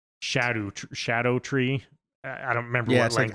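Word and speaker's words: Scadutree: spelled scadu tree or what everybody's saying is scadut tree fragments. It's actually apparently pronounced shadow shadow tree.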